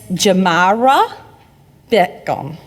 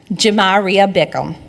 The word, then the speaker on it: Jamaria Bickham: And we have Miss Jamara Beckham. And I said your name wrong and I told you I wouldn't. It's Jamaria. Correct. Jamaria Bickham.